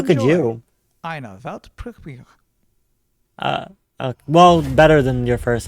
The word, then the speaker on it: Weltpremiere: It's actually Weltpremiere. Pretty similar, right? I think I could do that. Yeah, do it. Weltpremiere.